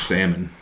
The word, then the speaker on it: salmon: Apparently he had undercooked salmon. Well, that's unfortunate. Yep. I don't know how you can undercook a salmon. Salmon. How do you say it? Salmon. Salmon? Then why don't they spell it S-A-M-O-N? Salmon.